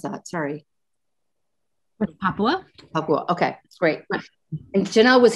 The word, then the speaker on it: Papua: How do you pronounce that? Sorry. Papua.